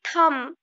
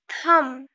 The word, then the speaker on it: thumb: Don't say thumb. It's thumb.